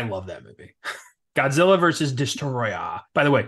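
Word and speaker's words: Destoroyah: that movie Godzilla versus destroya by the way you got to say it like that it's not Destroyer it's spelled destroy so that dude I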